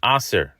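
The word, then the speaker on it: עשר: The only difference in the middle letter is where you put the dot. If the dot is on the right, then it's a shin, making the word osher, wealth.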